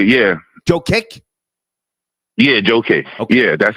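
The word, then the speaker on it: Jokić: How do you pronounce his name? Nicola. How do you say his last name? Joe Kick. Joker. Yeah. Joe Kick.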